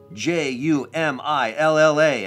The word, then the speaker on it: Jumilla: J-U-M-I-L-L-A, and that J is almost like a Y. Jumilla, and you do two L's like that, they become like a Y.